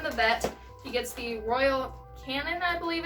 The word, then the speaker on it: Royal Canin: Dexter has had problems with crystals before, so from the vet, he gets the Royal Canin, I believe it's pronounced.